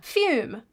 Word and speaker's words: Fume: Fume rhymes with broom.